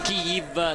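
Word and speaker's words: Kyiv: praticamente alla periferia di Kiev o kiv se lo vogliamo se la vogliamo pronunciare all'ucraina sapete che in Ucraina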